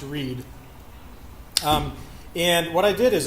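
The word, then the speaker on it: Rwead: people say it like we'd which is read with a speech impediment or weed without VR but either way it's just pronounced read and what I did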